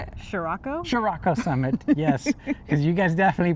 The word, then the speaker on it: Chiriaco Summit: Chiriaco Summit, yes.